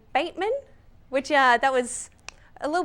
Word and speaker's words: Batman: He actually pronounced his name Bateman, which that was a little bit of a hitch there, but let's just say Batmania for the moment.